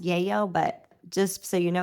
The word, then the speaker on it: Lello: It's pronounced Yayo, but just so you know what I'm talking about, Livraria Lello is actually a bookstore.